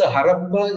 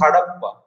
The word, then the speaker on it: Harappa: Besides, Harappa is the European spelling and pronunciation. The actual place name is Hadappa, and that's how it is still written in Hindi. There are no retroflex letters in European languages. So, Da becomes Ra.